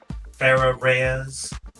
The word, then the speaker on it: Farah Reyes: So, for the record, your full name is Farah Reyes. And how was that pronounced? Like how I just said it. Bear a rez.